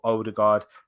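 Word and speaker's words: Ødegaard: do get him but older guard martin erdogan that is how you pronounce it um so yeah with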